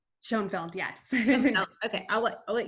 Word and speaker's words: Schoenfeld: Schoenfeld, yes.